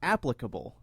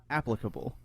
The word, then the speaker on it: applicable: crazy it's applicable like application applicable right here Oh a persona